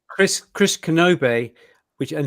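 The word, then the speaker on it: Knobbe: Chris kenobe which and his name is spelled k n o BBE so it looks kind of uh difficult to read on YouTube but if you think of Obi-Wan Kenobi then you've got Kenobi Chris Kenobi right Obi-Wan Kenobi Chris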